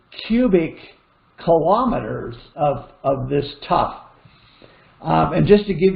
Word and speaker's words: tuff: a rock is called a tough there's various kinds of them t-u-f-f by the way is how you spell that not not the t-o-u-g-h this is and in